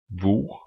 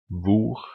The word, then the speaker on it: hvor: Finally, silent H in words starting with HV. This you will meet a lot, because the Norwegian question words is starting with HV. The Norwegian question words, that's equivalent of the English WH. So these words would then be pronounced hva, hvor, hvem, which means what, where, and who.